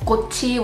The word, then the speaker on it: 꽃이: a vowel, for example, 꽃이, which is just with the particle added to it, you would then pronounce the chiit only because of resyllabification, so that it turns into 꽃이, 꽃이.